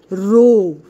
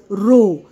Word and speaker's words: rho: ध्यान से देखिए मैंने इस word को क्या pronounce किया है, rho, R H O. आप भी मेरे साथ pronounce कीजिए, what is this word called, rho.